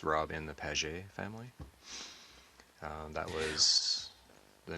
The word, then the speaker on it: Pagé: Um, and my family name is pronounced PE. It's French. So, it's Rob in the PE family.